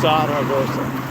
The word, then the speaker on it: Zaragoza: Something with a Z you pronounce with a slightly harder S than a normal S. So it's Zaragoza.